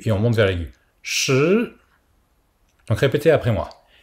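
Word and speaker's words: 十: Et le 10, Shi. S-H-I. Donc comme pour le 4, le I se prononce comme un petit E, pas dire Shi.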